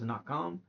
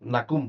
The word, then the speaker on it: Nakum: Before we end this, yeah, he became a war captain, which was Nakam, or how do you say it? No, Nakum. Nakum.